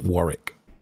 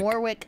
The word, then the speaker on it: Warwick: I've seen that they're from the UK, so you'd pronounce it Warwick. Oh, Warwick. Mm-hmm. I've been saying Warwick for like, I don't know, 2 years.